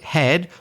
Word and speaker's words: head: And then we've also got the word head, which has an E and an A, and in this case pronounced E. You'll see later that the letters E and A are often pronounced a different way, but in this particular word, it's head.